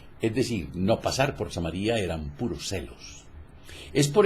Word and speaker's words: Samaría: la provincia de samaría algunos la pronuncian como samaria yo digo samaría cuya población era despreciada